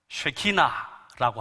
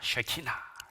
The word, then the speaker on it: 쉐키나: 이걸 쉐키나라고 합니다. 쉐키나. 발음 잘 하셔야 됩니다. 쉐키나 해야지 야 하면 큰일 납니다.